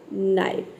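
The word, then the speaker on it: knife: ठीक उसी तरह से यहाँ पे देखिए है नीट, नैक, नाइफ। सभी वर्ड में के शुरू में के आया है और के बाद एन आया है, इसलिए यहाँ पे के लेटर साइलेंट है और हम एन को प्रोनाउंस कर रहे हैं, ठीक है।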